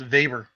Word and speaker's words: Weber: It's not actually pronounced Weber. It's pronounced Vber.